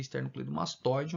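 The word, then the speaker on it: esternocleidomastóideo: O acento mesmo é no O, né? A pronúncia mais correta seria esternocleidomastoideo, mas eu por costume,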